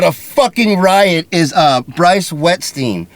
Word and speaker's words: Wettstein: She wins fucking, doesn't even know how funny she is, but a fucking riot is Bryce Wettstein. Right? Am I saying it right? Wettstein?